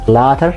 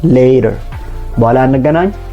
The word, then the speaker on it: later: learning on the girl you're not going to pronounce it as latter but you should pronounce it as later see you later and